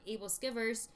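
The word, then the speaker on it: æbleskiver: There's different ways to say it. We so call it, we say able skewers. We say able skewers, but that's friend, not the right way to pronounce it. My friend calls it able skivers. So pronounce it however you will.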